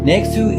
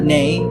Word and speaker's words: Neyxtou: Neyxtou is a full pronunciation. It's not Ney. There's no romance in the name like Neyxtou, okay? Ney, X2.